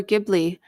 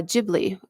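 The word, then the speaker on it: Ghibli: beautiful um we have juice saying is it pronounced jibli or gibli um and it is actually uh jibli because um so if I read for instance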